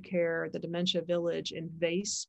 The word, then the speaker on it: Weesp: the dementia village in vase that's w-e-e-s-p but it's pronounced vase in the netherlands which